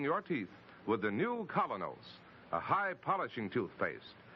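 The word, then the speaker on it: Kolynos: is start cleaning your teeth with the new colonos a high polishing toothpaste its action is like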